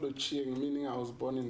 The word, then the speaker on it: Ochieng: I think I ran away from that because I didn't know how to pronounce it. It's called Ochieng, meaning I was born in the afternoon.